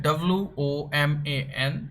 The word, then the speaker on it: woman: It's spelled WOMAN, and the pronunciation is woman. And the plural becomes WOMEN, which is pronounced women.